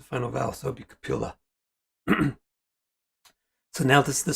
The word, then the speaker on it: Kapila: appeal but in the proper language you would pronounce the final vowel so it'll be capilla so now this is the story of kapiola